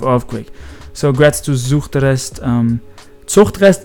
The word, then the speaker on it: Zuchtrest: Zuchtrest is how you pronounce it in German, but some people, I don't think, like when I say it like that.